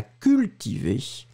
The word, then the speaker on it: cultiver: would be once again the UU from cultiver, but she's pronouncing it perfectly. Et à cultiver.